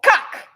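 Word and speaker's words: kak: That's how you spell cuck. It's said cuck, like a cuck, as in a cucked man, but it's spelled K-A-K, cuck, which is shit.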